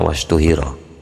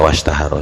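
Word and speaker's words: واشتهر: al aimmatus sabatu wastahar wasuhiro di sini bacanya wastu hiro saya wastaharo saja karena artinya sudah lazim itu wastaharo lan dadi masyhur min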